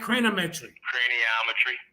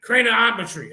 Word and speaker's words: craniometry: scientists in the field of CR how you pronounce that cranometry craniometry okay thank you he established a five-part naming